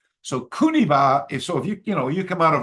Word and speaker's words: Kuniba: And Kokuba is the Okinawan way to pronounce Kuniba. So Kuniba, if you come out